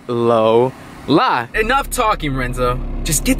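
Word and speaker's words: Lowla: If you guys don't remember her name is Lola, but I spell it with the W. So it's L-O-W-L-A. Get it? Lola.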